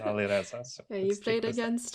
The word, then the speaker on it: Alireza: That's the proper pronunciation, Alireza.